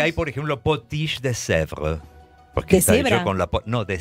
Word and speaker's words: Sèvres: No, de Sèvres. Sèvres es de un lugar, justamente, que estaba en Francia y donde se hacían potiches, este tipo de porcelana. La fábrica de potiches está ahí. Se escribe S-E-V-R-E-S. Sèvres.